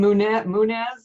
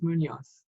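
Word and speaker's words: Muñoz: You call him Munez, and I think it's Munoz.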